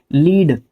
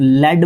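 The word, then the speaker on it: lead: जब नाउन के रूप में लीड को मैं कहता हूं लेड बोला जाता है। लीड नहीं बोला जाता वैसे ही।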